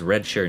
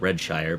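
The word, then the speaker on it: Redshire: the revamped red shirt I'm pretty certain she be pronounced red sure not read Shire but oh who's who's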